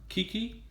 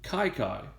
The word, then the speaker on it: Kiki: given his nickname so a lot of people think his nickname is pronounced Kiki but it is actually kaikai and there are two